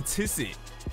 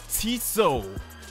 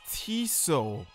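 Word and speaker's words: Tissot: so I just looked up how do you pronounce it and it's not even Tiss it it's tiso holy crap yeah comments are really going to murder me this whole time I was calling it tis it it's tiso wow this coure is an exclusive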